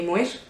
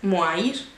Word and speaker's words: mohair: digamos, estándar del francés, mohair. A saber que el mohair, la A y la I en francés se pronuncia E, entonces se pronuncia mohair, ¿vale?